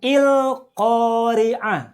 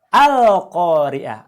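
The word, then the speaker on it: القارعة: Contoh, ini surat Al-Qari'ah ayat 1 bacanya bukan Il-Qari'ah atau Ul-Qari'ah, tapi bacalah Al-Qari'ah.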